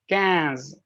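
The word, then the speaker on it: quinze: the same thing oops i added an extras cans i hope the spelling is right q-u-i-n-z-e it's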